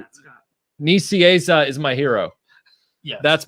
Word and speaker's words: Nicieza: Oh, the guy's telling me how to pronounce it. Nicieza.